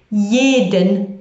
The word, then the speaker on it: jeden: Jeden Montag. Jeden Montag. That's spelled with a J. Remember, all J's are pronounced like Y's.